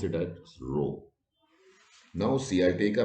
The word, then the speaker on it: rho: is the greek alphabet greek alphabet rho you pronounce it as rho now see i take a matrix i find